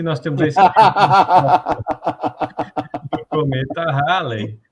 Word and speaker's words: Halley: Na verdade, o nome do Bill Haley seria Bill Haley, né? E o cometa seria Halley. Só que depende da época, o país que você está, começa a mudar essa pronúncia. E na época, nos Estados Unidos, o cometa Halley, o pessoal pronunciava Haley como o nome dele, Bill Haley.